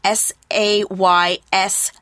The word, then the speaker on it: says: Now, you should also know that say can have different pronunciations for different spellings. Say is spelled S-A-Y. It's pronounced A. And then we have says, S-A-Y-S, says. So one of them is for I, you, we, they, I say. And then we can say he says.